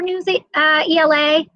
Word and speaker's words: Newsela: gizmos in science or news ela newsela depending how you say it in various subjects